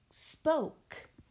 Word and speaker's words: spoke: Number 8, we're going to do the word spoke. S-P-O-K, spoke. I hear 4 sounds in the word spoke. S-P-O-K, spoke. We have that silent E at the end that is not pronounced.